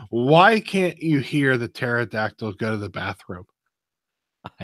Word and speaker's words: pterodactyl: can't you hear the pterodactyl go to the bathroom I have no idea he said because the P is silent honestly I lost it